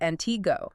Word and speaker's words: Antigo: The weekly police and sheriff reports from Antiggo, and we should probably say it right. Antiggo.